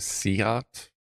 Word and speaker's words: SEAT: cheaper Beamers at nowadays seat is pronounced seat oh okay it's a seat the turn signals work